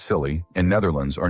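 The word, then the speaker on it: Scilly: The aisle of Silly, pronounced Silly, and Netherlands are not sure if they have been at war for 300 years.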